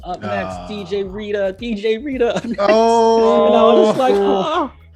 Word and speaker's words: Rieta: try to make sure they know that it's Rieta and stuff.